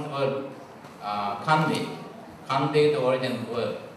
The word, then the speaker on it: Kandy: Not C-A-N-D-Y, Kandi, but K-A-N-D-Y, Kandi.